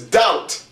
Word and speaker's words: doubt: The word is subtle, and the word is doubt.